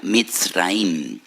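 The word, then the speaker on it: מצרים: y recuerdan la aflicción, la amargura de la esclavitud, porque la palabra Egipto en hebreo se pronuncia Mitzraim, y en hebreo hay dos M's, dos letras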